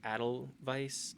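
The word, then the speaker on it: Edelweiss: It's pronounced like Adel Vice.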